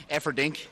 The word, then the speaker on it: Efferding: You pronounced his name right. I just call him Rhino because the other part just... Efferding.